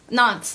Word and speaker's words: Nantes: Nantes. That's how it's said. yeah. Nantes. Sure. I think that's how I heard it pronounced before.